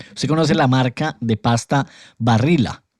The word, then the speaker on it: Barilla: Ahora, porque imagine usted conoce la marca de pasta Barilla, porque así es la pronunciación en italiano, ¿no?